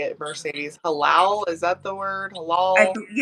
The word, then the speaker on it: halal: Halal, is that the word?